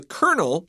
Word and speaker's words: kernel: Now, first of all, the word kernel is pronounced the same as a rank in the military, which is spelled C-O-L-O-N-E-L.